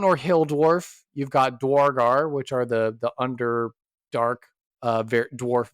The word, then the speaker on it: Duergar: A dragar? The Underdark? Duergar? Yeah, which I know Yeah, the Duergar, yeah.